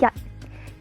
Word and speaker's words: 日: It's called yat. In Cantonese, it's called yat. Don't confuse it with yat. Yat is number 1. Yat is for yat tao, like daytime.